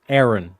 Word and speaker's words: Éireann: What people call Ireland or Ireland in the English language, in the Irish language, it's this word here, which is pronounced Éireann, right?